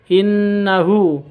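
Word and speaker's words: إنه: Innahu ini ada gunnah, bacanya dengung, dua ketuk atau tiga ketuk dengan hurufnya. Innahu seperti itu. Hu-nya ini ada hak dhamir. Hak dhamir hurufnya harokatnya seperti 6, dhammah seperti 6, maka dibaca panjang.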